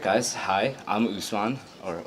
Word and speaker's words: Usman: Hi, I'm Usman, or Usman, as you so correctly pronounced.